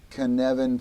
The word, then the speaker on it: Cynefin: It is a Welsh word. It's a Welsh word, and not good luck with Welsh. That one's actually pretty easy, I think.